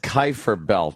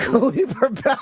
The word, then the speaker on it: Kuiper: The Kuiper belt. Greg, what did he Kuiper mispronounce? Okay, it's called a Kuiper belt. Kuiper. And what? Cooper Belt.